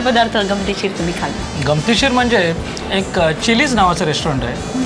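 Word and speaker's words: mojo: एक मेक्सिकन प्रकार आहे तर आपण त्याच spelling M ओ एम ओ जे ओ करतात पण तिकडे जे ला उच्चार ह करतात म्हणून मोहो म्हणतात तर ते असतं तर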